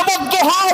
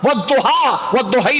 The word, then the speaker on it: وَالضُّحَىٰ: سب کو جمع کیا، فرمایا وَالضُّحَىٰ وَاللَّيْلِ إِذَا سَجَا، وَالضُّحَيْ نہیں پڑھو، وَاللَّيْلِ إِذَا سَجَيْ نہ،